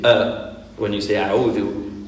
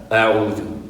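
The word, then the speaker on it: أعوذ: When you pronounce Hamza, air doesn't flow. So technically when you say a'udhu, you shouldn't feel air coming out of your mouth and hitting your finger. That's actually a way of knowing whether you're pronouncing it right or not.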